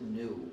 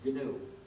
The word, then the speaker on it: GNU: pronounce the name correctly do not follow the dictionary when it's the name of our operating system do not pronounce it new because if you say